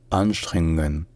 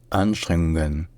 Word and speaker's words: Anstrengungen: Ensuite, deuxièmement, une deuxième difficulté principale, c'est que le NG en allemand, dans ce contexte-là, ce ne sont pas vraiment deux consonnes différentes. En fait, c'est deux consonnes qui sont prononcées ensemble en faisant un son nasal là où est fait le G d'habitude. C'est-à-dire qu'au lieu de faire N puis G, faites un N, un son nasal, là où normalement est fait le G. Faites un ng, ng, ng, voilà.